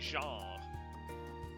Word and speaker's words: genre: It's also a French word. It's supposed to be genre. That's how that's supposed to be pronounced.